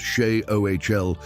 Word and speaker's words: Sheol: Shol. Three consonants in the original Hebrew pronounced she o appearing across 16 different books of the Old Testament.